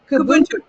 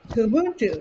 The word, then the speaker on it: Kubuntu: I looked up how to say this, but Kubuntu. Kubuntu.